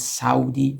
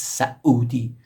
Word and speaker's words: Saudi: When, for example, when you hear the word Saudi Arabia, it's actually not correct. It's Saudi. So there is a glottal stop. Like in Cockney English accent, instead of bottle, you will say bottle, right? It kind of sounds like that, the sound.